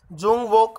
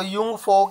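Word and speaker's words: Jungvolk: तो हमने यहाँ डिस्कस किया जुंग वोक, वैसे इसको युंग फोक इसकी राइट प्रोनाउंसिएशन होगी युंग फोक, जो JUNGWOLK है।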